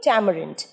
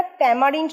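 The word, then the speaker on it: tamarind: মোহনা ঠিক বলেছে, তেঁতুলের ইংরাজি কিন্তু ট্যামারিন্ড। উচ্চারণটা ট্যামারিন্ড নয়, ট্যামারিন্ড।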